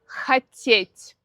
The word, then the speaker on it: хотеть: Например, глагол хотеть в инфинитиве ударение на суффикс.